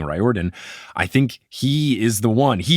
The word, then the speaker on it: Riordan: it, or at least going against the traditional pronunciation of Riordan, him saying Riordan.